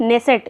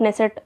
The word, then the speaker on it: Knesset: Next है Israel संसद द्वारा सर्वोच्च सम्मान स्पीकर ऑफ नेसेट, इसको ये स्पेलिंग ये है KNESSET, लेकिन नेसेट इसको पढ़ा जाएगा।